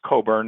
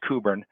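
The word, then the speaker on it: Cockburn: as it's printed there I recommend that you use the the um American pronunciation which is Coburn or the Scottish pronunciation apparently is kuber and so uh as he says in one of his uh meetings you know this this using this pronunciation will save a lot of embarrassment all around so um uh you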